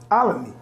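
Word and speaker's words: Olney: Alamy.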